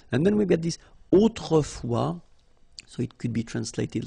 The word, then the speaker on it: autrefois: And then we get this autrefois, so it could be translated like in olden days or in olden times, okay? Autrefois, so A-U, autrefois, final S not pronounced, okay?